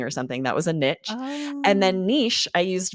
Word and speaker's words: niche: this next one yes Niche is a French word and what's really interesting is the variant it sounds very different it's niche and here's what's fascinating growing